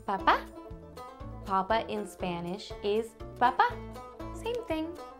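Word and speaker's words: papá: what about a papa papa in Spanish is Papa same thing sounds similar just a little Accent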